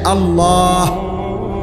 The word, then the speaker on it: আল্লাহ: হইতে হবে শেষে আল্লাহ শেষে একটা গোল হা আছে ছোট হা আল্লাহ মানে আল্লাহু তো